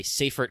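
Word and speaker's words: Seyfert: seaffort this refers to a seaffort class galaxy or safer class galaxies if you want to say it that way they're named after the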